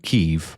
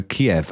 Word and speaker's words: Kiev: So, I will from this moment uh refer to them not as Dynamo Kev, uh which is whatever you pronounced it. I will pronounce them as Dynamo Kiev, as in chicken Kiev.